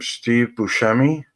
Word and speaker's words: Steve Buscemi: Steve Buscemi.